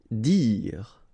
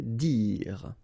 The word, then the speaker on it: dire: Dire. Same thing here, you don't insist on the final e, okay? Dire.